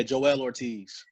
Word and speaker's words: Joell Ortiz: I listened to the so is it it's pronounced Joel Ortiz right I'm terrible yeah Joell Ortiz God and dude that album was fire cuz